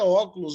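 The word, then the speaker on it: ὄχλος: Óculos, mas não é óculos mesmo, viu? É só a pronúncia que é óculos, a palavra é multidão.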